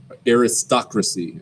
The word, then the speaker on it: aristocracy: have aristocracy all right now aristocracy is how you say that okay i know it like looks like aristocracy okay but it's aristocracy okay the the emphasis of the syllable is on uh star aristocracy okay all right